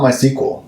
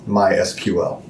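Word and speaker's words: MySQL: in lowercase SQL right it's not my sequel It's My SQL who cares um I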